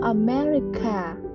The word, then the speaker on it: America: you from mình đến từ Mỹ I'm from America I am from America sống và a merry